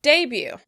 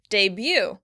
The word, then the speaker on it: debut: In British English, the word would be stressed on the first syllable. Debut. Debut. In American English, the stress would be on the second syllable. Debut.